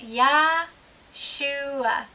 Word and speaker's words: Yahshua: So we're going to say it Yah-shuah, Yah-shuah, Yah-shuah, Yeshua, Yeshua.